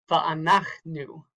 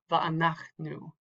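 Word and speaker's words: ואנחנו: That tells you that that is the accented syllable, not the last syllable. So this would be Va'anachnu, Va'anachnu, or Yerushalayim.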